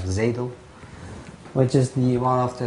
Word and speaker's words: xADL: and look at ZADL, XADL but pronounced like ZADL, which is one of the latest developments.